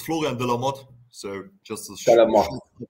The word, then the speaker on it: Florian De La Motte: It's Florian De La Motte. Is that pronounced right, bro? Hey, hello. Yeah, pretty much. It's Florian De La Motte.